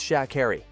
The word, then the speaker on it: Sha'Carri: mispronounced her first name it's sha Harry she said curtly it is worth